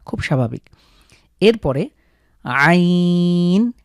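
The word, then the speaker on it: عين: এরপরে আইন, হা। এই দুটোর উচ্চারণ একটু স্পেশাল। আমরা কণ্ঠের মাঝখান থেকে চাপ দিয়ে হলকের মাঝখান থেকে উচ্চারিত হবে আইন, হা।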